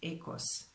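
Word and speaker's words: οἶκος: Greek told me that this is pronounced ekos.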